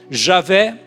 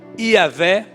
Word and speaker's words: Javé: Então colocaram algumas vogais entre as consoantes e ficou aquilo que muitos já conhecem, a pronúncia Javé ou Iavé, também era uma pronúncia aceitável, e a pronúncia que muitos mais conhecem, Jeová.